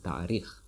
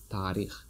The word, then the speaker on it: таърих: History, тарих, тарих, or some people say tarikh. So you can say tarikh, but you see, because of letter a, alomati sakta, Tajik letter, you may pronounce it like long a, tarikh.